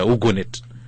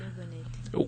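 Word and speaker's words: WOUGNET: She can actually, Agnes can even just pronounce it better, Ugonet. Yes, Ugonet.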